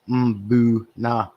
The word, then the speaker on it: mbuna: think we all know how to pronounce imbuna properly boo nah and of course the